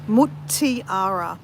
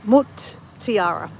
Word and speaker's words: Mutiara: Yeah, so Mutiara. So tiara with mut. Yeah, Mutiara. That's how you say it.